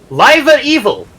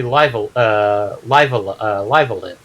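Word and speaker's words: Live A Live: I actually encountered somebody that encountered the ROM and pronounced it Live Evil because that's how the logo looked to him, and like, no, it's supposed to be Live Alive.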